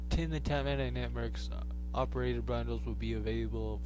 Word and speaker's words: NickMercs: Tim the Tatman and nickmercs. So, nickmercs. You can go tell nickmercs that how I say his name. Nickmercs. That sounds like Snickers.